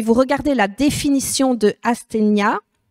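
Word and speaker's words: asthenia: verset c'est le mot asénia alors je je reconnais que oui si vous regardez la définition de asénia aséna je prononce mieux euh c'est vrai que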